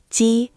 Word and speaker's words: jī: First syllable, Ji, is tone one, high and flat, like holding a note in a song.